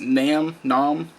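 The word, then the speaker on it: Naam: Next band, I believe it's pronounced Nam, N-A-A-M.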